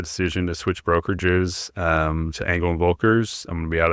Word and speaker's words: Engel & Völkers: And you just realigned with Engel and Völkers. I always say it wrong. I always say like Engels and Völkers or Engel and Völker, but it's Engel and Völkers.